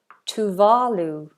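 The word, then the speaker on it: Tuvalu: to work up so this is talu talu is how we pronounce it here in in the UK talu is close to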